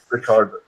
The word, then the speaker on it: Richard: Rickart. No, it's still spelled the same way. It's just in German the CH gives it more of a K sound.